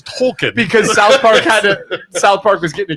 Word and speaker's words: Tolkien: and all the guys are like, "Wait, it's not Token," and they're like, "No, it's Tolkien."